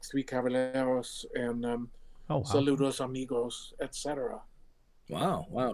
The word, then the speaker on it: Caballeros: Oh, actually, I think they just announced a sequel to the three how do you say Calaberos? I can't. Caballeros.